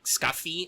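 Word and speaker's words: Skaði: Also, fun fact, that weird squiggly D sound is not actually a D, though it's usually how her name is anglicized. Technically, if you're going to be very Norse, the way they pronounce the name is more like Skafi, I think.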